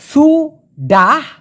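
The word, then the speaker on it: sudah: সেই ক্ষেত্রে হবে এস ইউ ডি A Hayes উচ্চারণটা হবে সুডাহ তারপরে হবে সুডি শুনতে বিটঘুটে হলেও এটাই বাস্তব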